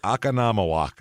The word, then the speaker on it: Oconomowoc: man aanam walk yeah akan walk I'm pretty sure that's how you say it if not hey